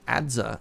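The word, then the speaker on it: adze: return portal cool oh apparently adza only has one syllable and it's pronounced kind of like ad huh oh okay T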